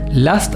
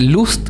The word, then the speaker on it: Lust: Last, acuerden que se escribe L U S t. Eh, o sea, se dice lost, eh, o sea, se dice last, o sea, perdón, vuelvo para atrás, se escribe lust, pero se dice con a last hair y lo pueden